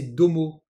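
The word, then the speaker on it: ども: Ensuite, on a le suffixe de pluriel tomo, que l'on va généralement prononcer domo, hein, vous voyez avec le dakuten, alors ça va dépendre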